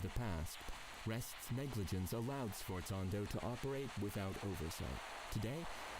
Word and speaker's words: Sforzando: Sforzando. Okay, that's how you pronounce that heckin' word.